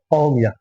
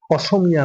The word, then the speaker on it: অসমিয়া: আমরা যেটাকে আসাম বলি এটা ওদের ল্যাঙ্গুয়েজে অহমন্ত উচ্চারণ করে। অহমিয়া অসমিয়া না অহমিয়া।